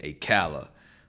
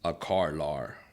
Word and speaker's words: Akala: saying his name wrong I've been saying a Calla or kalla you know say I'm from New York that's how he talked a cow so but it's parently it's a car law which sounds like he